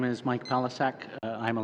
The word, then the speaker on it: Palasak: Pelisek. Is that, am I pronouncing your name correctly, sir?